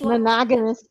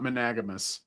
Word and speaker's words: monogamous: She's monogamous It's pronounced monogamous, not managamous.